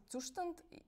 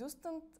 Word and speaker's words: Zustand: In German, in Zustand. In English, it's Zustand.